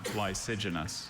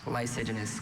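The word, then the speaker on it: lysigenous: Are there any alternate pronunciations? Just the one. Lysenous. Lysenous.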